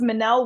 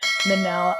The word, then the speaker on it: Minnelle: yes my name is Manel Williams think of Michelle but with two ends for those who see it and forget how to say it Manel I am a licensed